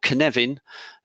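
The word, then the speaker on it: Cynefin: in the agile space there's something called kanevin um it's spelled with a c and it's a welsh word and if you've got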